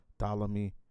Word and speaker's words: Ptolemy: Barry Ptolemy. Did I say it right? You did.